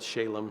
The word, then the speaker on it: Shalem: Canaanites let's call it spelled with an eye but still said Shalom so there's some cool